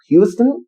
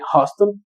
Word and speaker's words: Huston: Lo escribe Charlie Huston, o Houston, que dudo mucho que se escriba Houston porque no tiene la O. No, sería, yo creo que lo más cercano a una pronunciación correcta sería Charlie Huston.